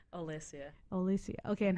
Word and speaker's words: Olesia: do that how do you say your name ELISA ELISA okay and how do you say your